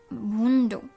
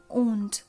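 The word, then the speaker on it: Wundt: তারপরে আসছে, এখানে নামটা রয়েছে ভুন্ডো, এইটা প্লিজ লিখো না, এই নামটা হলো উইলহেলম উন্ড। ইংলিশ উচ্চারণ যেটা রয়েছে সেটাকেই বাংলায় লিখো, ভুন্ডো লিখো না।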